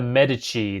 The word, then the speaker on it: Medici: So, we had merchants and the Medici.